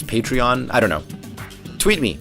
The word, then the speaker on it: Patreon: It's funny, by the way, I always thought it was pronounced patron, but apparently a lot of people are pronouncing it as Patreon.